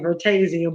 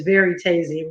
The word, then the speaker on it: Veritasium: I've been saying Vertasium, but it's Veritasium, right?